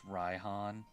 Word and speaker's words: Raihan: It's pronounced Raihan.